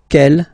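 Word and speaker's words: quel: for the phonetics okay the way to pronounce them Kell masculine form here will be pronounced exactly as the feminine form here K so only one sound okay and then the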